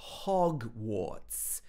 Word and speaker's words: Hogwarts: run if you're nervous notice the way she says hogwarts this is using the very british sound ah hog hogwarts if it was american english it would be hog but here it's hog hogwarts okay she also says